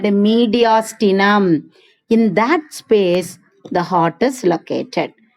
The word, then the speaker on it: mediastinum: MEDIAS. TINUM. How will you pronounce this word?